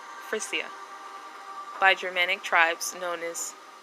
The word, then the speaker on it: Frisia: Sweden, Lower Saxony, and I believe this is pronounced Frisia, by Germanic tribes known as Saxons, Jutes, and Angles.